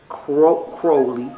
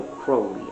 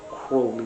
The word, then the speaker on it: Crowley: And this was just the beginning of Crowley, because he says his name rhymes with holy, so Crowley. I say Crowley sometimes, but it's holy Crowley, like Crowley.